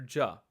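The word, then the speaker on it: ज: just like with JA the letter Jah is also not aspirated so you use minimal force when you say it this is almost equivalent to the way we say the letter J in English j ja j ja the next letter is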